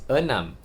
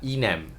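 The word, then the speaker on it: enam: six which is e and the m is Anam not inam so e in this case in Malay is pronounced as a the vowel e is all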